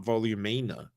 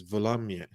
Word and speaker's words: Volumnia: it that's hard yeah because it's not volumino yeah it's volumia volumia who is a